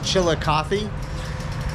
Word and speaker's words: Chillicothe: Google that so I would know how to pronounce it it is chilika uh it looks like it's going to be